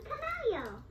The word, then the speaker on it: camello: You don't pronounce the double L in Spanish. It's pronounced like a Y.